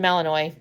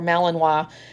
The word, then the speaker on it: Malinois: He's a Belgian Malinois, or Malinois. And I think you can pronounce it either.